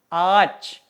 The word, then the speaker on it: ağaç: Cara bacanya itu tidak dianggap ya teman-teman. Cara bacanya tidak dianggap. Oke? Contohnya, ağaç. Ağaç. Ağaç. Ada huruf yumuşak G kan di tengahnya. Itu nggak dibaca ya teman-teman.